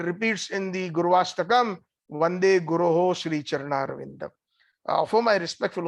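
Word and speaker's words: गुरोः: Please note that sometimes we sing Vande Guru Sri Charanarvindam. It is a mispronunciation. It is not addressed to just one Guru. It is plural. It says Vande Guroho Sri Charanarvindam.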